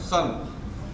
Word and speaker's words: son: SON, अब देखिए यहाँ पे है लिखा सन, SON, लेकिन हम लोग उच्चारण क्या कर रहे हैं? SON, सन।